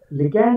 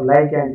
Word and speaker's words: ligand: Ligand or ligand, you can pronounce it anyway.